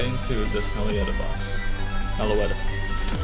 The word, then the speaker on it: Meloetta: Meloetta. I always said it wrong.